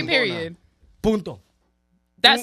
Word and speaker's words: punto: Punto. That sounds like No, Punto. The N is silent a little bit.